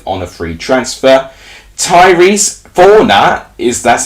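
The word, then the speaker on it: Fornah: to join portsmouth on a free transfer tyrese fauna is that's how you say his name he's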